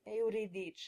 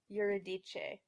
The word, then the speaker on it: Euridice: In Italian, the first syllable is pronounced as two clear, distinct vowels, eu. But I often hear folks pronounce this word Euridice, with an R-colored schwa followed by a regular schwa.